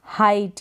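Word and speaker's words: height: जैसे कि है, ये स्पेलिंग्स दे रखी है यहाँ पर, हाइट, क्या है, हाइट।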